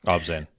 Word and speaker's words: ObZen: Um that first track on I think it was the Ozen or Abzene, I don't know how to pronounce it album. Obzen.